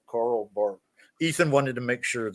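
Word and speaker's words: Karl Barth: I say one thing yeah absolutely um it's Carl Bart it's uh it's uh you know his name is spelled b-a-r-t-h but it's like pronounced Carl bark Ethan wanted to make sure that was clarified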